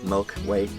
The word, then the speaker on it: Milky Whey: name ever for this we call it the Milky Way and spelled with WH dy4 way like in a way Milky Way so gonna make a